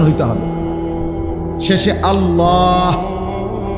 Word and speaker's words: আল্লাহ: শেষে আল্লাহ। শেষে একটা গোল হা আছে ছোট হা। আল্লাহ মানে আল্লাহু তো হুটারে শ্বাস ফেলাইলে